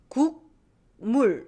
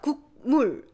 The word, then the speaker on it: 국물: So soup broth, 국물. It's hard to cut 국물. Just to pronounce mu sound, our nasal cavity is already closing. And so 국물. 국물 is natural phenomenon.